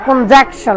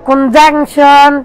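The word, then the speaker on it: conjunction: ইন্টারজেকশন ইন্টারজেকশন কনজাংশন কনজাংশন এন এর উচ্চারণ অনেকেই করে না অবশ্য বলে কনজাংকশন একদম সরাসরি বলে তো কনজাংশন কনজাংশন তো কনজাংকশন কনজাকশন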